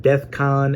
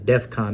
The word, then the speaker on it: DEFCON: videos and I mean death con and Defcon that's such a insignificant thing you ultimately get the point of what Kanye West is trying to say but as a jinx said just because he said it wrong he's clearly a [